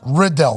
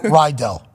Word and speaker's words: Riddell: Love on the show it's pronounced Riddell versus ryel our crew is loving